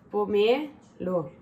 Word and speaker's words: pomelo: Io, vabbè, l'accento è sulla E, quindi è pomelo.